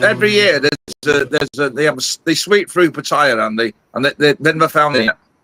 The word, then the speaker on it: Pattaya: With all the people listening and they'll listen also on the replay, can we get the pronunciation of Pattaya right? We don't want any Pattaya. It's Pattaya, and that's the end of it.